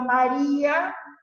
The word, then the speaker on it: María: No, el hiato como excepción únicamente, por ejemplo, María, que en realidad no tendría que llevar tilde, pero lleva tilde porque es hiato, porque se acentúa, en realidad sería una grave, se acentúa en la penúltima, bien digo, sílaba y